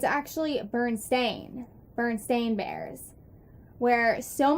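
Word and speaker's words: Berenstain: it's a onlet difference instead of a e it's an A so I mean it could be a false memory but I think that's really weird because the pronunciation is a lot different Bern stain Bernstein it's just I remember Bernstein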